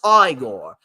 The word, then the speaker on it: Igor: You must be Igor. No, it's pronounced Igor. But they told me it was Igor.